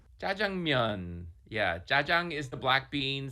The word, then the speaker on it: jajangmyeon: Sbrocco: All right, Nick, I'm gonna ask you to help us all pronounce this dish correctly. Cho: Jah-jung-myun. Yeah. "Jajang" is the black-bean sauce. And "myeon" just means "noodles." Myeon.